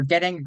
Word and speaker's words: Getting: Well, that's Senator Getting, rhymes with betting, although I do not endorse gambling.